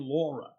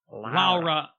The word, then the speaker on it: Lara: that a thing well I'm used to saying Laura but I'm learning that it's Lara Lara Lara Rogers I gotta say it like that um she was kind